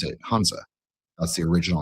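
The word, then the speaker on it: 汉字: We just pronounce it Hanzi.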